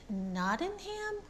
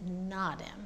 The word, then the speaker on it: Nottingham: So is it Nottingham or is it Nottingham? You're not supposed to say ham.